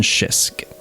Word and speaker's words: schisk: his last name waldron schisk there's a k at the end of shisk it's a silent k in the front i know that with